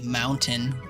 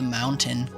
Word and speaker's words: mountain: But yeah, I can't imagine saying the hard tea mountain over the mountain.